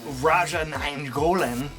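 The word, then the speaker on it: Radja Nainggolan: to go Bastion number six from Belgium it's Raja n Goan that's right I said it right he's an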